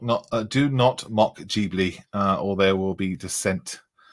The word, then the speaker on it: Ghibli: Richard said it's pronounced Ghibli.